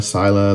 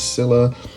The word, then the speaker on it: Scylla: With our number 10, I'm going to put Scylla, or Scylla, Scylla. A lot of people say it different. I know it's from the Greek myth. I would probably pronounce it as Scylla.